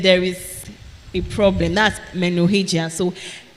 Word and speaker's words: menorrhagia: What do I say? Hey, this is a science class. Menorrhagia. So it's spelled Menorrhagia. Menorrhagia.